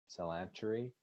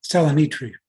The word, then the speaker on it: Salonitri: ahead and hire Alex Salantri for the position. Did I say his name right, Bill? No, Salonitri. Salonitri, at an hourly rate